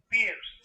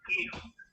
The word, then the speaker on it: Peirce: Y eso lo hizo un filósofo que se llama, el nombre escrito sería Pierre, P-I-E-R-C-E, Pierre Peirce, ¿verdad? Sería la pronunciación correcta, no la pronunciación española, Peirce.